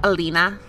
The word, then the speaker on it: Elena: well, maybe he killed, is it Alana? Is that the sister's name? How do you say the name? Is it Elena? Elena. Elena. Yeah.